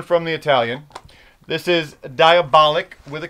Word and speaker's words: Diabolik: but the actual name of the character is diabolic diabolic not die not diabolic but i think first i always thought it was diabolique i think with that type of pronunciation no